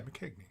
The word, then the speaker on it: McKegney: Okay, yeah, McKegney. Okay, so I was kind of saying it right, McKegney. That's not Mac, right? It's Mick. Yeah.